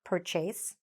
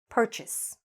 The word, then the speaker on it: purchase: But when we say the full verb, it's not purchase, it is purchase. Purchase. So again, forget the E here at the end, and the stress is here.